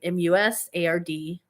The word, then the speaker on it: Musard: and then my last name m-u-s-a-r-d which is pronounced musard um tomorrow i will